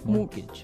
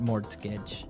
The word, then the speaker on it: mortgage: with a t yeah it has a t in it but you don't pronounce it you say mortgage morgage so not Mort mortgage not morgage morgage morgage yeah I